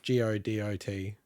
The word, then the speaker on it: Godot: i think it's good so g-o-d-o-t but i believe you pronounce it godot yeah people can port